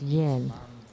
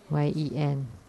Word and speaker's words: Yen: And the 6th syllable is yen. It's like the Japanese money. Y-E-N. Yen.